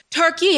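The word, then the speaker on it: Türkiye: Now, the umlauts are those two dots over the U, and they indicate kind of a different vowel quality using fronting and rounding of the mouth.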